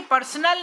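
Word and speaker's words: personnel: तो army पर्सोनल याद रखिए पर्सनल नहीं है।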